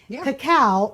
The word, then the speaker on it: cacao: need cacao powder and I'm pronouncing that right cacao versus cocoa and let me explain why so cacao powder